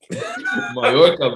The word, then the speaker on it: Mallorca: Mallorca, bro. I'm missing. Anyways, thanks for joining us, guys. Hey, it's like tortilla. Everything 2 L's in Spanish. Is Bro, that's madness, bro. Hey, say it again. Mallorca.